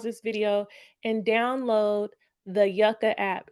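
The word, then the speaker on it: Yuka: So, I really want you to pause this video and download the Yucka app. It's spelled Y U K A.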